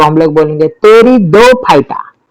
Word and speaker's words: Pteridophyta: Okay, division 3 को हम लोग बोलेंगे टेरिडोफाइटा। टी साइलेंट है, या मजाक कर रहा हूं, टेरिडोफाइटा।